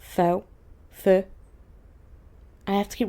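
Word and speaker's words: phở: And of course, their namesake, Pho, which is pronounced Pho, not Pho.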